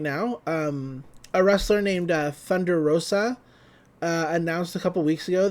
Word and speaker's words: Thunder Rosa: and they pronounce it thunder rosa thunder rosa thunder rosa when it's you know thunder rosa she's hispanic roll that r it's not hard you can do it